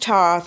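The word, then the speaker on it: Thoth: Okay, it is pronounced toth. I'm sorry. Like people have debates, but it is really pronounced toth.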